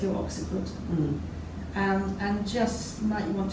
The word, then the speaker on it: occiput: Occiput is the back of the head. Occiput. Yes, occipital is an adjective, occiput is the noun. Okay, thank you. Take your hand to the back, so it's your occiput.